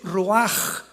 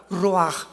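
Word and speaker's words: רוח: La palabra para espíritu en el hebreo es la palabra que es ruaj, que se escribe ruach con ch. Pero repito, ese pronuncio pronuncia como J. Roaj.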